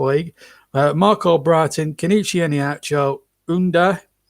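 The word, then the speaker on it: Ünder: Marco Brighton, Kenichi Eniacho, Unda, it's spelled under, but Unda, I think is how you pronounce it, and Chowdhury make up the substitutes.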